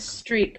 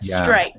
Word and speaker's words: strike: yeah that was perfect i think you said streak maybe but strike maybe right and the